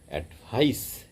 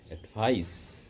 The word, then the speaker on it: advice: pronunciation উচ্চারণ second সিলেবাসেই second সিলেবে স্টেজটা পড়বে এডভাইস এডভাইস সিইর উচ্চারণটা এস এর মত আসবে ভয়েসলেস এস মানে